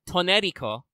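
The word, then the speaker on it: トネリコ: The word Toneriko, which is how she pronounces her own name in Japanese, means ash tree.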